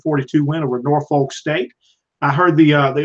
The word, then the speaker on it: Norfolk: they were up there they say Norfolk but that's not how it's spelled that's sometimes you know you don't pronounce things the way it's spell so I'm saying Norfolk but Ole Miss gets